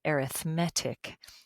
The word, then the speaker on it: arithmetic: But when I'm using it to describe as an adjective sequences, then we put the emphasis on the different syllable, this syllable, M-E-T, the met part. So then you say arithmetic.